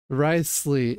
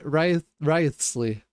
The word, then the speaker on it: Wriothesley: Wriothesley, indispensables. I don't know what else it says. I was told that I actually pronounced his name right. Wriothesley, I think.